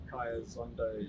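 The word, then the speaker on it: Khaya Zondo: Yes, Kaya Zondo. Yeah, that's pretty simple. I don't think there's too much really to his pronunciation, but yeah, Kaya Zondo is pretty much how you said it.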